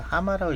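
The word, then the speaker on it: 浜: 그래서 처음으로 가는 데가 이 물가 비늘 쓰는 그러니까 오마가 아니라 하마라고 읽더라고요.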